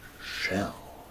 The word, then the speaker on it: Schel: the book is called shell because we all live in a shell it's not spelled like a turtle shell or a seash shell It's s c h e l for shell it's the things that